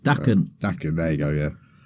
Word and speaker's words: Daken: Forgive me if I pronounce it wrong, but Daken. Is it Daken? Correct, Daken.